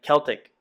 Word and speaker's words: Celtic: It's a Celtic design, and it's pronounced Celtic, not Celtic.